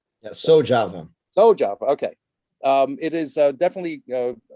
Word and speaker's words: SoJava: As founder and coordinator of SoJava, did I pronounce that correctly? Yeah, SoJava.